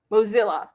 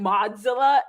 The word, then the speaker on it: Mozilla: it i was like i kept saying modzilla and it's like mozilla all right so then